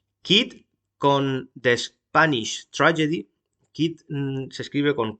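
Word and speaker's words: Kyd: Kit se escribe con K y D.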